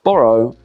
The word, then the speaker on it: borrow: Okay, so lend has one syllable, lend, whereas borrow has two, borrow. And the OW at the end of borrow is an O sound.